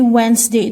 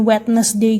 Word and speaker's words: Wednesday: Jadi Wednesday itu jangan Wednesday gitu ya bacanya, tapi Wednesday.